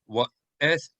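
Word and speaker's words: ואתחנן: So the proper way in ancient Hebrew would be wa'etchanan. Wa'etchanan. So the het would be ha.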